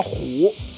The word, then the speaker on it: 鯱: ，这个叫虎，汉字写成鱼字旁一个老虎的虎，念呢也念成虎，传说是